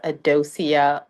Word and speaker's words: Adocia: So, your name is it pronounced Adocia? Uh, Dosia. Yes.